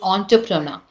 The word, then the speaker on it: entrepreneur: And many pronounce it as entrepreneur or in different way, but the right pronunciation is that is entrepreneur.